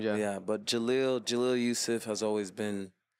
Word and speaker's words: Jeleel: your legal name my full name is Jalil Yusuf but is like I'm I'm Muslim so like is what they put before a lot of Muslims names yeah but Jalil Jalil Yusuf has always been like everybody calls